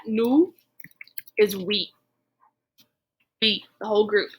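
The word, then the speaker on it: nous: our plural we have nu nu so notice i don't pronounce the s at the end of that nu is we the whole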